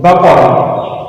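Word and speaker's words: بقرة: Baqara. In Arabic we pronounce it baqara.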